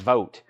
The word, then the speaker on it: Vogt: Joshua vote Joshua vote Vogt is pronounced vote got it go vote